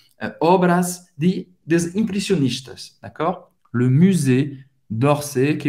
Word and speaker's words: musée: ouvre, ferme, fecha le musée. Museu em francês, musée, mais uma vez, presta atenção na pronúncia desse U. Obviamente, eles vão responder, on